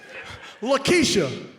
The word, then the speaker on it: Laq'kieche: Lakeisha. Spell it. L-A-Q K-I-E-C-H E, accent over the E, and the Q is silent.